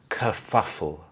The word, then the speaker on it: kerfuffle: they understand the meaning of these technical words kafuffle kafuffle there was a bit of a kafuffle at